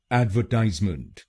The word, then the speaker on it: advertisement: तो बनेगा एडवर्टाइजमेंट, एडवर्टाइजमेंट। एड व ties month, एडवर्टाइजमेंट, एडवर्टाइजमेंट, एडवर्टाइजमेंट। और अमेरिकन प्रोनाउंसिएशन में हम तीसरे शब्दांश पर यानी टीआईएसई पर जोर डालेंगे।